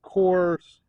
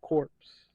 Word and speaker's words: corps: corrected for my pronunciation it's Kors not corpse but there's a corpse